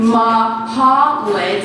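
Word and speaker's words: Mahlet: I remember hating the first day of school because introducing myself meant repeating ma-ha-lit about 20 times. And yes, I know it looks like mallet and it's just pronounced differently in my culture.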